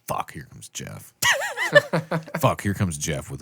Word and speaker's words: Geoff: When I was a kid, I used to pronounce it G off. Me too. I'm like, what the hell is this guy's name? Geoff? GFFA. Jeff.